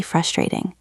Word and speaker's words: frustrating: say, that sounds really frustrating. Let's practice that one. Frustrating. That sounds really frustrating. Listen to the stress in the word frustrating. It's on the first syllable.